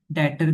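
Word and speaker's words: debtor: Sorry B silent होता है इसमें डेटर का और क्रेडिटर का।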